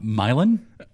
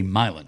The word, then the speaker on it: Milan: What about the West Tennessee town Milan? I've never heard of that, actually. It's like the European town Milan. Right. Okay. But there they say Milan Really? with a long I. Milan.